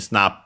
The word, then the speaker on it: スナップ: But yeah, first we have again Snap, but that we have of course already seen because it's the name of the game. Luckily accent on the na, just like in English, Snap.